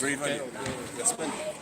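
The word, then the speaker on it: Bray Valiant: Brave Valley. Yes, spell it, peoples.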